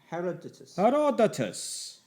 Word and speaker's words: Herodotus: Herodotus. Herodotus.